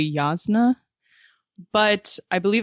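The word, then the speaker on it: Jasnah: And that's Josh was like, no, with a Hebrew pronunciation that would be Yasna.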